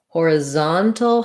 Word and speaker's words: horizontal: Horizontal has the stress on the zon syllable.